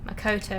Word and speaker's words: Makoto: Makoto is how you say it.